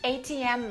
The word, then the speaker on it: ATM: machine is called the atm machine atm machine and let's stress the last letter because when we have abbreviations the rule is we stress the last letter the most for example mba great yes